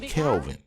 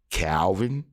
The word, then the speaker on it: Kelven: name all the time my name is kelvin people pronounce it calvin kevin i've even heard people say cleven which i don't know